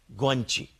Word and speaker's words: guanxi: Chinese में relationship के word को वो कहते हैं गुआनची. अभी मैं आपसे शेयर करता हूं. वैसे उसके स्पेलिंग तो हैं GUANXI, but I think it's pronounced गुआनची.